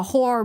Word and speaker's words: horror: Like, imagine making fun of our accent when they can't even pronounce the word horror. It's literally two syllables, not one.